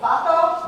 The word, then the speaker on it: vato: Vato?